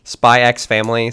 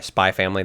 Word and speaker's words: Spy x Family: Spy X family sort of thing. Mhm. Mhm. Or sorry, spy family. The X is not The X is silent.